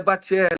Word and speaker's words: Baccelli: Mas a pronúncia é Bacelli, igual de um É ator com dois antigo, Cs e dois Carlos L's, né?